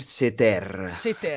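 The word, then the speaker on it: Ceter: Comunque la merda Cer Damir seter pronuncia corretta Ti ringrazio adesso potrò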